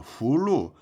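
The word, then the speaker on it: 葫芦: 후 후 이성 있니다 후루 목록은 후루 그죠 아 중국어는 연음이 안 돼요 우리는 연음이 되잖아요 중국어는 연음이 없습니다 그냥 후하고 루 하고 각기 다르게 발음해야 돼 후루 하고 루 하고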